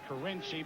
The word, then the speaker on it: Carinci: Is it Carinci or Carinci? He pronounces it Carinci, but he really doesn't care what you call him.